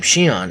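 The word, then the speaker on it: Xion: Zion, or as the game pronounces his name, Shiion, is one of the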